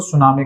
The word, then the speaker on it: सुनामी: जो आपकी हर बार इसको सुनामी कहा जाता है और इसमें टी साइलेंट होता है ठीक है आगे अगर